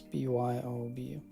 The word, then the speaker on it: Byobu: Spelled like this, B-Y-O-B-U.